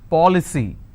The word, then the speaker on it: policy: ends with C Y for example policy how many syllables C now here the rule says I need to stress on the third from right which means I will stress on Pop I just bought an